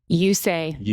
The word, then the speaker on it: Usaj: And why don't, just for fun, Jenny, at the beginning, just to make things clear for everyone, your last name is pronounced how? Usaj.